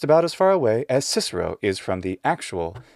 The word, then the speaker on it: Cicero: standard pronunciation in english cicero same deal well we don't have the initial ga un aspirated it's always ka so kikiro or something like that is what would come out with using normal native english